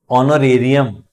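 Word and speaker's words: honorarium: ऑनरेरियम, ऑनरेरियम क्या अर्थ है? पारिश्रमिक। एच से शुरू हो रहा है पर ओ वोवेल साउंड आ रहा है।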